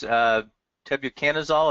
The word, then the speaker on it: tebuconazole: When is the safest time to use tebuconazole, am I pronouncing that right?